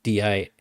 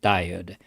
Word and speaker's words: Dired: Okay, this is like you call the command DIRED. I pronounce it Dired, but some people pronounce it Dired because that's what it stand for, directory editor.